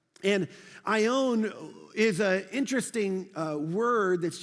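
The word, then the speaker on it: αἰών: and it's this great word right here it's pronounced i own and i own is a interesting word that's used for time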